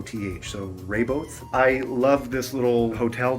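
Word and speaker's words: Rehoboth: am in a town whose name I can't pronounce it's r e h o b o th so raybo I love this little hotel that I'm in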